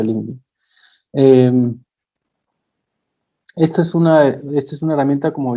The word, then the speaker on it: LinkedIn: O LinkedIn, como quieran llamarlo, que en inglés se pronuncia LinkedIn.